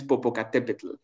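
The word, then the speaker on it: Popocatépetl: is tashi wata and the second one is popocatepetl so um the the these are the the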